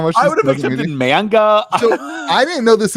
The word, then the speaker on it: manga: Is it Magna? Yeah, how do you pronounce it? Manga? Yeah, manga. I think it's manga.